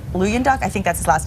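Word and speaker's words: Luyendyk: But of the 25 original Bachelors, we've already told you that only 2 remain, Ari, and I think Ari's last name is pronounced like Luyenduk. Luyenduk, I think that's his last name.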